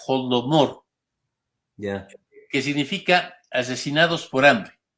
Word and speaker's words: Holodomor: Los ucranios, en el idioma ucranio, crearon una palabra que se pronuncia Holodomor, que significa asesinados por hambre, por los rusos.